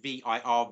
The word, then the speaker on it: vir: Masculine man is V-I-R, vir in classical Latin.